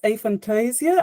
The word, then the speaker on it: aphantasia: honest I think the British pron ation is a Fantasia I hear it pronounced in different ways depending on the country